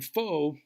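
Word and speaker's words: phở: Pho, which incidentally should be pronounced pho, as in PHA with a rising, pho, is now like a trendy, cuisine that a lot of people eat.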